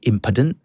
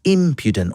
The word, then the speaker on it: impudent: Is it impedent? Is it impudent? So I had to learn the diiocritic alphabet. So the little lines. So I knew it's impudent on the first syllable.